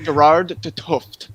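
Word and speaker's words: Gerard 't Hooft: Is that how you pronounce it? When we yes, Gerard de Tuft.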